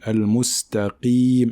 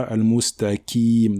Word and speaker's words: المستقيم: une kasra ici, donc il faut bien prononcer le qaf emphatique. Ce n'est pas la lettre kaf, mais c'est la lettre qaf, d'accord? Donc on dit al-mustaqim et non pas al-mustaqim, d'accord?